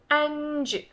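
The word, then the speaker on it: அஞ்சு: You really have to really pronounce the N part. Anj, anj, anj. Not A sound, it's anj, A sound. Like how you say an, the word an, the name an, anj.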